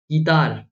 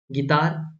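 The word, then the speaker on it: guitar: colleague guest गड catalogue गतार क्या बोलते हो गीतार गतार थोड़ी बोलते हो गिल्टी गैस लग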